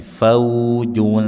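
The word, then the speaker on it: فوجٌ: Faujun. faujun jangan dibaca dengan tebal fau jo ju bukan ju bukan juga terlalu umum faujua jua dekatkan lidahnya ke tempatnya sin sa faujun faujun Saalahum a hamzah tegas jangan dibaca mirip alif.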